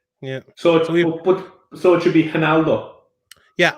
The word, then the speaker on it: Ronaldo: No, it's a H instead of an R. It's pronounced with a H.